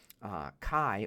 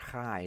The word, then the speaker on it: chi: So we have the X, which is the letter chi or chai, depending on how you say it, and the next to it, the letter rho, which has an R sound for us in English.